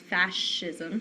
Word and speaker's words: fascism: fascism is the first form and this is pronounced fascism so it's like f a s h i